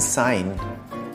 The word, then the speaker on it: sign: you pronounce half penny G as in sign H as an honest